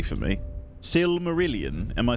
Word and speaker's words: Silmarillion: The Silmarillion is wild.